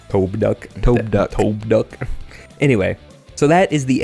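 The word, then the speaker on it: Tobduk: I also remembered it's pronounced Tobe-duck. Tobe-duck.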